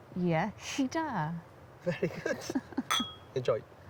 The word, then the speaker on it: Iechyd da: Iechyd da. Iechyd da.